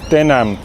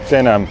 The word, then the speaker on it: tänan: How do you say thank you in Estonian? Tänan. Tänan.